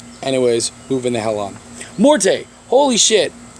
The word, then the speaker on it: Morte: absolute darkness and again the name is morte or more however you want to pronounce it if you pronounce it Morty I'll punch you in the throat cuz that's [ __